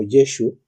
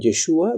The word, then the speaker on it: Yeshu: no aparece en Mateo aparece en el primer versículo como yeshu luego aparece como yeshua incluso más adelante aparece como yehoshua es decir Mateo utiliza las Tres formas en que se puede pronunciar el nombre de Jesús en hebreo en un tiempo que evidentemente la lengua hebrea no estaba todavía codificada cuando dice yeshu eso da un tono Galileo los galileos no decían